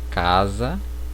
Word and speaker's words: casa: No espanhol esse S ele não terá som de Z. Por exemplo, casa, eu vou pronunciar caça, certo?